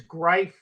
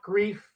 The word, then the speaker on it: Greif: And Brian, one thing to know, the pronunciation of that gentleman's name is Greif, not Grief.